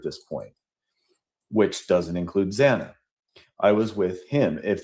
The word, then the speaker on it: Xana: However, she mispronounced Xana and said Zayna.